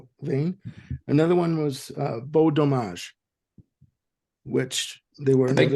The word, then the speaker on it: dommage: Another one was Beau Dommage, which they were the big cheese, the nice cheese. Oh, fromage, isn't it? Fromage. Dommage, not fromage. Dommage.